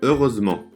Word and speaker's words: heureusement: Por exemplo, felizmente em francês se fala heureusement. Se escreve com um T no fim da palavra, mas o T não se pronuncia.